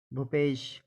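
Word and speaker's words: Bhupesh: बी एन A Bhavna B के बाद एच आए तो भा बनता है इसके यह उदाहरण है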